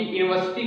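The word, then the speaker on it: university: गलत, क्योंकि यूनिवर्सिटी का जब हम उच्चारण करेंगे तो क्या होगा? या से चालू होगा, इसलिए इसके साथ क्या लगेगा?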